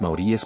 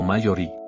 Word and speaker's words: maorí: Durante toda la exposición hablé de los maoríes pronunciándolo como mayorí.